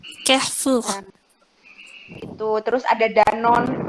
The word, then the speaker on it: Carrefour: ada Carrefour, itu bacanya gimana ya Madam? Carrefour. Carrefour.